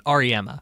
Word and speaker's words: Auriemma: Auriemma.